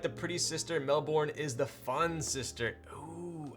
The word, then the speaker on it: Melbourne: Oh, you pronounce it Melbourne, not Melbourne? Oh yes, you got it, Melbourne.